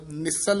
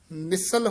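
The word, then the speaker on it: ਨਿਸਲ: मन हुए निचिंद निसल होए रही है, निसाल नहीं बोलना, थोड़ा जा कस के बोलना है, निसल होए रही है।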